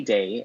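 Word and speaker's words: Dae: Our romantic hero is Sunny Day, and his last name is spelled D-A-E, who is a self-proclaimed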